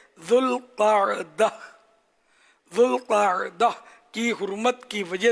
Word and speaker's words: ذوالقعدہ: بھی کہا جاتا ہے۔ ذوالقعدہ 2 لفظوں سے مل کر بنا ہے، ایک ذو اور دوسرا القاعدہ۔ اس کا درست تلفظ یہ ہے ذوالقعدہ۔ ذوالقعدہ کی حرمت کی